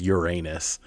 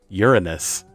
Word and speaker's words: Uranus: way that everyone does, Uranus, doesn't sound good. And if you pronounce it the way that it's technically supposed to be pronounced, Uranus, it still has the word urine in it.